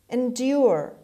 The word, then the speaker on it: endure: word number three endure endure endure the stress is on d means last keep on